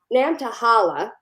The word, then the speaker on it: Nantahala: heart piska which is to protect the Pisco Nantahala did I pronounce that right you got it national forest